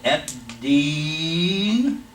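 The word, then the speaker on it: الدين: All right, this is "a," and we're skipping the L in pronunciation. So Ad-Deen, Sukoon here on the lamb here.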